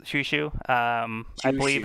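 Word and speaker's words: Chouchou: with the spelling uh it looks like Chow Chow but yeah it is pronounced shushu um I believe it's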